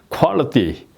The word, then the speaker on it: quality: 예 이렇게 예 그래서 Quality Quality 여기에서 티 이렇게 발음할 수도 있지만 Quality 예 이렇게 발음이 띠 비슷하게 이렇게 약간 띠에 가깝게 약간 이렇게 소리가 난다 하는 걸 이제 생각을 해두시면